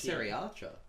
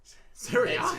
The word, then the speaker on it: Saoirse: That's how but it's it's spelled pronounced. Cerise. It's like, yeah, it's. Look, I've watched interviews. I thought it was Sari Archer. Cerise.